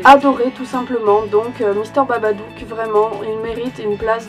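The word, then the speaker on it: Babadook: vu ma critique il il s'agit de Mister babadou et non pas badabou comme je l'ai dit tout le long de ma critique je suis absolument désolé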